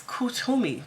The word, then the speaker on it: Kuthumi: Kuthumi can pronounce Kutumi.